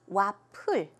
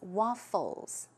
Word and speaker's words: waffles: it with a P, wapul, right? But keep in mind, it's an F, so it's not waffle, it's waffles.